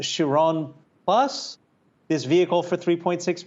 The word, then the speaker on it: Chiron: to pronounce it correctly but is it called chiron bus this vehicle for 3.6 million dollars so it's the shiron puresport the pure sport with the w who's